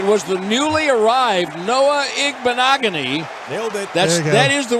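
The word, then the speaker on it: Igbinoghene: goal and it was the newly arrived Noah igbenogony nailed it that is the way it's pronounced yeah just throw a bunch of letters and consonants in there it's igbanogony picked up by the Cowboys defender on the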